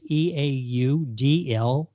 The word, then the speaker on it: Eau de Leon: That's Eaudleone. Jerry Methner is the author. That's Methner is spelled Methner.